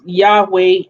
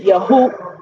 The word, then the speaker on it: Yahweh: i talked about why i pronounce yahweh as such right yo hey wahey with the pad tag the the shaba and the cigar i'll just say it like that um consonant vowel consonant and a lot of people say yahoo hold on about that all right so a lot of people say why i do not use the pronunciation yahoo right let me let